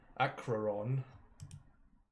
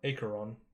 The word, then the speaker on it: Acheron: And if they want to go gallivanting, hello to Vatha, which is this little place up here, next to Acheron, or Acheron, that's actually how it's pronounced.